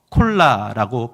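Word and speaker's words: κολλάω: 그러면서 오늘 본문에 선에 속하다라는 단어는 헬라어로 콜라라고 발음합니다 콜라 했더니 먹는 콜라가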